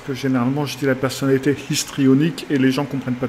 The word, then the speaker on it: histrionique: appelle la personnalité histrionique faut que je fasse attention ne pas prononcer le h parce que généralement j'étais la personnalité histrionique et les gens comprennent